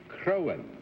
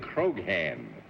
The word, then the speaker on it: Croghan: And for nearly 18 years, I've been trying to teach you it's John Charles Patrick Crowan. The G is silent. You said Croghan.